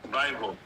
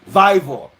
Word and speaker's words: Vivour: How do you pronounce that? Vivour. Vivour.